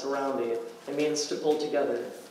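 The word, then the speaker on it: harambee: There is a word in the Swahili language pronounced harambe.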